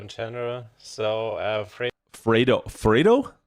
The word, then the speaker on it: Vredo: So, uh Vredo Vredo Vredo? Not I was I was not pronouncing it that way. Is that correct? Not V It's like more of an F than a V.